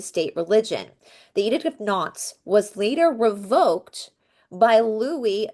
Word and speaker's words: Nantes: But the Edict of Nantes, I think Nantes is how you say it, Nantes, was signed by King Henry IV of France in 1598.